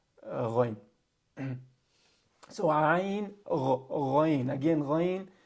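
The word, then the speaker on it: غين: Again, ghayn, the sound that ghayn makes does not exist in the English language. So many native English speakers, they have difficulty pronouncing this letter.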